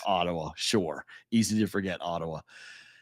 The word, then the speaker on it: Ottawa: that's right yeah Ottawa no it's Ottawa tawa yeah Ottawa I guess that's the way you're supposed to say it with an accent on the second syllable that's the proper native